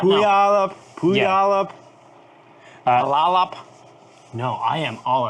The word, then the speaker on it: Puyallup: It's like P-U-Y. Puyallup. Puyallup. Puyallup. Puyallup.